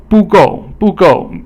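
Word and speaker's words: 不够: And then 不够 is both fourth tone. Fourth tone is falling.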